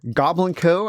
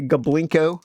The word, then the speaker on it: Goblinko: it I love how Goblin Co I'm going to say it correctly I used to say goblinko I still prefer goblinko but it's a goblin Co so thank you for